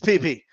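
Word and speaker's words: PeePee: By the way, it's P-E-E-P-E-E. Okay? So spell it right, guys. It's PP.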